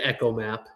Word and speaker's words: ECHOMAP: I've I've got the the Echo Map. Is it Echo Mac? Echo Map or Ecom Map. We always say Echo Map. It's Echo Map.